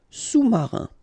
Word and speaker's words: sous-marin: All right, and remember, sous, okay, final S not pronounced, so S-O-U, sous, sous-marin.